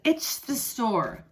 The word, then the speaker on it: ichthyosaur: It is called an ichthyosaur. An ichthyosaur, the man told her. Ichthyosaur. Ichthyosaur. Ichthyosaur. Can you say it with me? Ichthyosaur. 4 syllables.